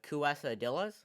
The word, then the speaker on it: quesadillas: underrated underrated yes actually we've been pronouncing it wrong this entire time it's uh kuesa dillas you know that we